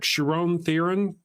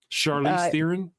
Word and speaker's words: Charlize Theron: stupid ball moments that I thought, like when Sharon Theron, she dies. Sharon, how do you say her name? Charlize Theron.